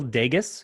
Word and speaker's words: Dages: sure it's uh dagus rhymes with las vegas vegas okay so i